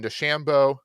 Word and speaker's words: DeChambeau: And then Rodgers and Bryson DeChambeau, rhymes with Lambo, perfect match, will be taking on Brady and them.